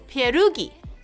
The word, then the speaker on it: pierog: You have to roll the R.